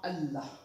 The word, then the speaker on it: Allah: If we have Zer below the prior alphabet before Lam of Allah, we will pronounce it as thin in thin voice, like Bismillah.